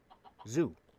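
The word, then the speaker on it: zú: And the Irish for zoo is zoo. But it's spelled Z, which is not a that is not a letter in the Gaelic alphabet. It's the letter Z and then the letter U with the fada over it.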